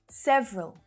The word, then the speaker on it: several: Several. So you might hear several, again with a little schwa syllable in there.